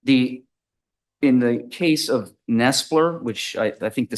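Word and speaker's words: Knestler: Uh, in a somewhat of a a gray area, but Nestler, uh, that's spelled with a KN E S Per versus State 314th Southern Third 287.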